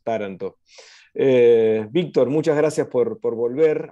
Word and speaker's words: Taranto: El acento en esa A inicial, porque me gusta como lo dicen ellos, Taranto.